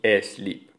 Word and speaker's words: sleep: En los anglicismos se escriben igual, stop y sleep, pero se pronuncian con esa E protética, con ese sonido E protético, stop y sleep.